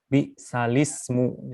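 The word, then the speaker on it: بئس الاسم: Kemudian yang ini bacaannya bi salismu. Jadi ini alif lamnya tidak ada dibacanya, jadi seperti itu bi salismu.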